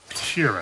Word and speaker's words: Sheeran: Frank Sheeran.